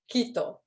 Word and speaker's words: Quito: Do you pronounce it Quito or Quito? Quito.